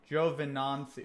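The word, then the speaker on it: Giovinazzi: spelled in English anyways Gio vinden on soo is pronounced Jove in Nancy Java Nancy okay I could say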